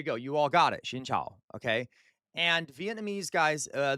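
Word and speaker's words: xin chào: Shingchow. Can you do it? So shin. And your voice has to go down with the cow. Okay. Down with the cow. It's tonal. Remember, Vietnamese is tonal.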